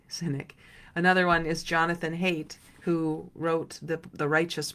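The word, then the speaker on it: Haidt: another one is Jonathan hate who wrote the The Righteous Mind I think his last name is pronounced hate h AI DT would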